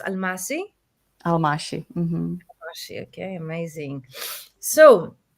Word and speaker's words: Almáši: aming maybe more Hungarian ah Hungarian is pronounced alashi alashi alashi okay amazing